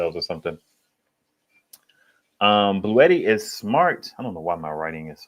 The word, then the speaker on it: Bluetti: Bluetti Bluetti I can't understand for the life of me people who pronounce it Blue Yeti. Like all these YouTubers are here saying Bluetti and you going to say Blue Yeti.